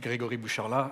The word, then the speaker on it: Grégory Boucharlat: so good afternoon everyone my name is indeed Gregory bushala I'm the vice president for the commercial business